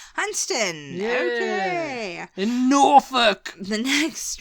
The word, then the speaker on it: Hunstanton: it's not coming to me this one hunston hunston yes all right hunon when in doubt just